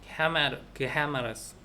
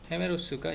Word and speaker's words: gemelos: gemelos. 해가 만약에 에 알파벳 모음 에하고 이하고 붙으면은 G 같은 경우는 히읗 발음 난다고 그랬잖아요.